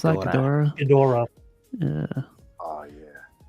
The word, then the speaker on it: Ghidorah: How you pronounce that? Ghidorah.